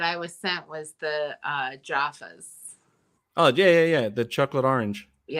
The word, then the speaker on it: Jaffa: My favorite candy that I was sent was the Jaffas. Oh, yeah. The chocolate orange. Yeah, I love chocolate orange, and then the crunchies. You got to say it like an Aussie, though. It's a Jaffa.